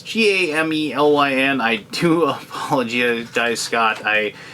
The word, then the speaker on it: Gamelyn: It's Gamelyn. I do apologize, Scott. I probably should have asked you how to pronounce that before I told you I'd do this video for you.